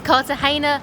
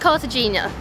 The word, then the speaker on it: Cartagena: by the way we've realized that we've been pronouncing it wrong it's cartagena not cartagena oops cartagena is a colonial port town